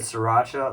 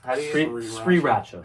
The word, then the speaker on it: Sriracha: almost for rice Russia Sri Racha Sri Racha that's our I say sriracha wrong three Shree Rajneesh we I'm not gonna do that tastes too long Sri Racha so the H is silent I say my go-to